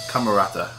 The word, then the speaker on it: Camerata: I had it right the first time. Camerata.